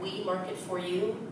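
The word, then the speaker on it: Oui Market For You: So my personal company is called We Market For You, and that is spelled like the French way, O-U-I, Market For You.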